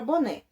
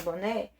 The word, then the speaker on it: boné: começar lá pela palavra boné e a palavra boné a sílaba tônica na última sílaba na última sílaba então